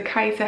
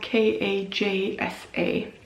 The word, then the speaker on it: Kajsa: It's the Kajsa hat. The pattern is by Sarah Stark, and that's spelled K-A-J-S-A, Kajsa hat.